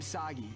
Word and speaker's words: Saggi: This is kind of overdue, but I'm Saggy rhymes with Saki.